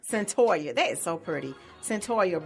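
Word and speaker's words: Cyntoia: gonna be discussed let me correct her name pronounce it correctly in Centennial sentorria sentorria that is so pretty sentorria Brown so she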